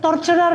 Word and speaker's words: torturer: Tort torturer yan mayor. Torturer parang three syllables.